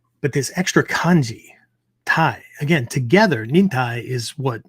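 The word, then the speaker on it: 耐: This kanji, we pronounce it Tai, but it comes from the verb taeru, Taeru, if you're writing out notes, right?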